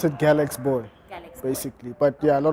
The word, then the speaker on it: GALXBOY: people get the name confused some people say galaxy boy some people say galex boy what is how do you pronounce your brand oh pronounce it galex boy basically but yeah a lot of people say